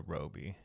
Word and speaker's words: Robbie: no, people saying Robbie, and people correct it to Roby.